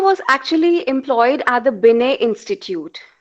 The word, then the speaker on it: Binet: actually employed at the binet institute binet spelling b-i-n-e-t it's not called binet it's t is silent binet institute in the